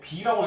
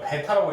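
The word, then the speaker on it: β: 그 다음에 얘는 이것도 이제 b라고 읽으면 촌스러운 거예요. 아직도 고등수학 하는 애가. 이건 b 대신 여기 내려온 거니까 베타라고 읽으셔야겠죠?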